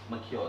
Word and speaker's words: macaque: How do you pronounce? Macaque, is it?